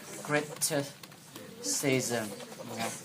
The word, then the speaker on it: criticism: Criticism. Đấy. Cách ông ấy phát âm từ này nào. Chúng ta xoa đâu các bạn? Âm số 2. Criticism. Nghe. Đấy, chứ không phải là criticism đâu. Nghe.